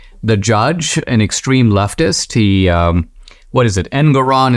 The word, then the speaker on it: Engoron: The judge, an extreme leftist, Engoron, is that the guy's name? It rhymes with moron.